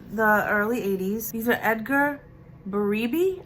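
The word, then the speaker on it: Edgar Berebi: early 80s these are Edgar baribe I hope that I'm saying it right it's b-e-r-e-b-i and these earrings I bought for a dollar and they're going for anywhere between 30 and 40.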